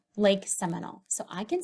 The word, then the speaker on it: Seminole: Sem, in, ol. Do you hear the long O?